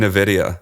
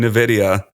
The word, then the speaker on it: Nvidia: Let's just start saying Nvidia, too, while we're at it.